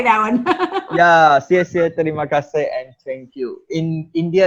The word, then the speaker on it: terima kasih: Sesiet means thank you, and terima kasih in Malays.